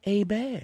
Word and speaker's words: Hebert: and video games Kyle a bear is born it's spelt Hebert but it's pronounced a bear he's from Lake Charles